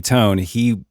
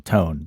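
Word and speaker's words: Toné: It is Tony Tony Tony, not Tony Tony Tone. There is an accent mark over that last E that says you pronounce that as a hard E. It is Tony Tony Tone.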